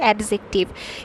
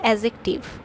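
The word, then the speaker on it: adjective: কিন্তু এটার একচুয়াল উচ্চারণ হবে এডজেক্টিভ। এখানে ডি উজ্জ অবস্থায় থাকবে। মানে টা অনুচ্চারিত থাকবে। তাহলে এটার উচ্চারণ কি হবে? এডজেক্টিভ। এডজেক্টিভ উচ্চারণ হবে। এডজেক্টিভ এটা উচ্চারণ হবে। নট ডি উচ্চারণ কিন্তু একদমই হবে না।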